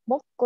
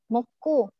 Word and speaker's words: 먹고: Jadi kalau misalnya mau ngomong moko itu agak sedikit ditekan. Moko.